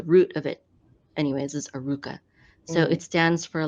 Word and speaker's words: Arukah: your website is pronounced Aruka.